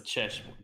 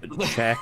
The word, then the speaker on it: Czech: B visor is a chesh beer these are my glasses it's pronounced check beer not ches beer idiot it's your opinion